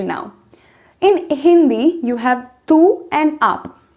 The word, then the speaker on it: tu: So tu is like tu in Hindi. You can't miss it out. It sounds similar.